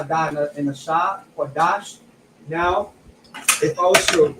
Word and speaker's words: Qadash: It's still pronounced Lashawan. We have a Kwa, a Da, and a Sha, Qadash.